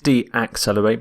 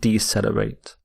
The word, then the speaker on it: decelerate: accelerate is decelerate decelerate not de accelerate but decelerate and here are some